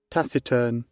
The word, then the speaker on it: taciturn: a word tac tac wait Tac is that what I thought taciturn okay that is how you say my God that's crazy that's